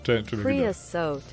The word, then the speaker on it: creosote: Creosote.